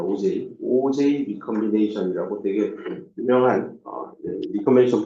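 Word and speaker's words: Auger: 이거는 가끔 시험 문제도 내는데 다음을 어떻게 읽는지 한국말로 써보세요 하면 책을 안 읽은 학생은 이건가? 오거? 뭐 이렇게 발음해요. 큰일 나요. OJ입니다. OJ.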